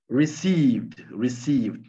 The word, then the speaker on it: receive: Received, to receive, recevoir, receive, sieve.